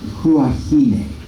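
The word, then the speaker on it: Huahine: at this little island uh uh huah is how you pronounce that huah uh just close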